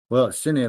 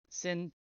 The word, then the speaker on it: Cine: It's sometimes hard to tell whether a C is a hard pronounce or a soft pronounce. Soft pronounce would make it an S sound. Sin, like cinema. Yes. Just pronounce it Sin TV.